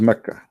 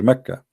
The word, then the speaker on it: Mecca: Sorry, for the people of Quraysh, they pronounce the letter Qa as Ka in such places, like in this case here, Mecca. So all what they do, they switch the letter. So Makkah became Mecca.